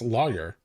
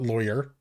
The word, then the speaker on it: lawyer: I don't pronounce it funny. It's lawyer. It's not lawyer. There's no loy. There isn't even a fucking O or a Y at the beginning of the word.